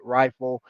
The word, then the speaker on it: RIFL: I have a specific theory on uh on what triggered the acceler called the rifle theory or R I L. It's an acronym. I pronounce it rifle.